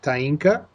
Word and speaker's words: Taeenka: And please, your name, to say it correctly, is Tainka.